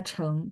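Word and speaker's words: 成: Dua-duanya sama-sama baca Cheng.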